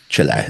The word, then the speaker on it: Chile: Chile, that's how they say it. They told me to put a lot of emphasis on the E, but they they they